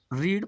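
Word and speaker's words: read: form यही रहता है तो आप रीड प्रोनाउंस इसे रेड कर सकते हैं और बाय हिम ही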